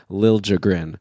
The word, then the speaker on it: Liljegren: By the way, thanks to Ryan Downey, who gave us that pronunciation, that apparently he wants a harder J sound when people say Liljegren.